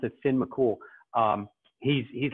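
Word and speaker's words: Fionn mac Cumhaill: mccool it looks like finn mccumhale but they pronounce it finn mccool um he's he's like a superhero in the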